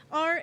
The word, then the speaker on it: Rachelle: Rachelle, and it looks like Rochelle, right? So for the longest time, I would cringe and recoil every time he said it wrong. But then this year, at the beginning of the school year, I told him how to pronounce it right and pronounce it as Rachel, in spite of being spelt rather differently.